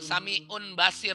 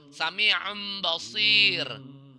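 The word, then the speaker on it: سميع بصير: Ya, sami'um atau tanwinnya nggak ketemu, tanwinnya tidak ketemu, udah bukan sami'un basir lagi, tapi sami'um basir. Ya, udah jadi mim dia tanwinnya.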